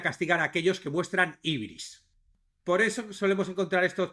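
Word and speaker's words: hybris: Ibris, que es un término griego, también se escribe no solo ibris con i latina, las dos, sino también como ibris, la primera con y, hy, ibris, o también ubris, ¿no?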